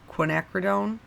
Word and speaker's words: Quinacridone: Quinacridone Rose.